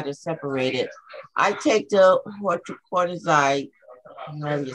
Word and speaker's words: hydrochlorothiazide: I'm on the hydrochlorothiazide. That's how you say it, the water pill. Hydrochlorothiazide, yes.